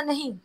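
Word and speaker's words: knee: हो नी नी ओके नी में क्या साइलेंट होता है के के वेरी गुड अच्छा दुआ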